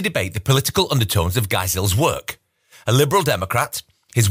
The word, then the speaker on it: Geisel: I'm going to be sending a note to Cy that his last name is actually pronounced Geisel.